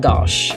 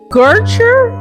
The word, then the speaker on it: gauche: Gertrude? No, explain. Where's she getting the R's from? It's Gauche. Gertrude.